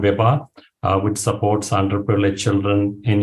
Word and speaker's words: Vibha: Could you say it and spell it, please? Sure, VIBA. VIBA.